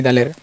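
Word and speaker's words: د: দাল কোনো নক্তা নেই দালের। দাল দাল দাল স্বাভাবিক উচ্চারণ হবে।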